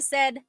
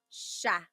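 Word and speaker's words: siya: But the s i y combination that makes a sh sound. So sha.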